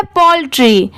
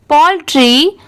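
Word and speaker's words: poultry: AND, एंड, ये है पोल्ट्री, POUL, Paul, और TRY, इसे ट्राई नहीं पढ़ेंगे, इसकी साउंड क्या आ रही है ट्री की, पोल्ट्री। ONE, वन, DAY, डे।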